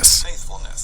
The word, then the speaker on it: faithfulness: Okay, and then you are going to see that the emphasis is going to be on the first syllable over here because the apostrophe is right on top of that. All right. Faithfulness.